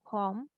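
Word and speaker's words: comb: and B are together, so we will not say the b sound, like in com or tomb or what else, bomb.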